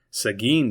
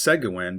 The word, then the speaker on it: Seguin: Seguin, Texas. It is not pronounced Seguin, but Seguin.